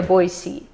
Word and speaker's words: Boise: If you're from Idaho, there's a certain way to say Boise. It's Boise or Boise.